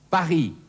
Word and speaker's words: Paris: Und drittens das stumme S, zum Beispiel im Falle der Stadt Paris, auf Französisch Paris.